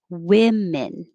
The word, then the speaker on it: women: lips woman and then 30 looks like an o but it sounds like with like with but women both vowels are the same women like women's room